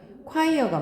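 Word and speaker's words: choir: 자,이 발견들은 뭘 보여주냐 하면은 콰이어가 뭐죠? 발음이 콰이어야 이거 발음이 초 아니고 콰이어 성가대 성가대에 자 with mental health션 또 나오지.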